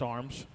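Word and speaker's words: Armes: for number five that's drake arms a-r-m-e-s i think it's pronounced arms long shot it's a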